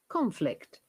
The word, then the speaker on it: conflict: one more time guys remember if it is a verb we stress on the first part conflict conflict conflict okay hang on